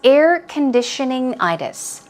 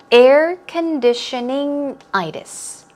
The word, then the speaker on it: air conditioning-itis: Our topic is air conditioning-itis. It's a very long word, so remember, stress these two syllables or these two parts of the word. Air conditioning-itis.